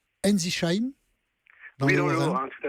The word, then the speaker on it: Ensisheim: Vous êtes à Ensisheim, dans le Haut-Rhin, tout à fait. J'ai bien prononcé? On dit Ensisheim, voilà.